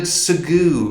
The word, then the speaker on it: segue: oh what a good segue into the third story because of the the vehicle the s-e-g-w-a-a-y people think the word segway is spelt like that but it's actually spelled s-e-g-u-e segu so uh that's a